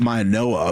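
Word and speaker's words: Mauigoa: Maioa, apparently. Apparently it's a Noah. I didn't realize that until yesterday, but that's what we were told, Maioa.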